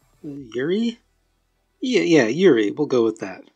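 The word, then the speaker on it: Juri: so let's talk about jury yuri yeah yeah yuri we'll go with that the j is silent so yuri master of the review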